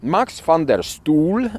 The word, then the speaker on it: Max van der Stoel: Marx Fander Stool, as he is pronounced, as I uh found out on YouTube, was a Dutch diplomat, politician, and a staunch advocate for human rights.